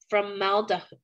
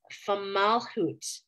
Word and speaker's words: Fomalhaut: It's called formaldehyde, that is not right. It's Fomalhaut.